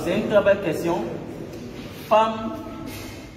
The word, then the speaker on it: femme: Femme qui s'écrit F-E-2-M-E, qu'on ne dit pas femme ou femme. On aurait pu écrire avec A.